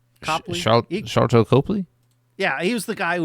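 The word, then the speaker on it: Sharlto Copley: you know how to say his name Char charl to Copley yeah was the guy who was in the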